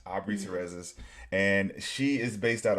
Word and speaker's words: Terrazas: Terrazas. Terrazas. Aubrey Mhm. Terrazas.